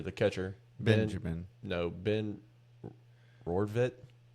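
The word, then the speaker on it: Rortvedt: No, Ben Rodvit.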